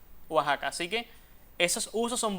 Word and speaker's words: Oaxaca: Sin embargo, la grafía con J también es válida porque esa X tiene sonido de J. En este caso lo el mismo que tiene en Texas y el mismo que tiene Oaxaca. Oaxaca.